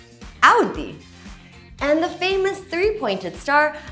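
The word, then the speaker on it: Audi: And this isn't "o-dee". Instead, say it like someone's pinching you - "Aw-dee"!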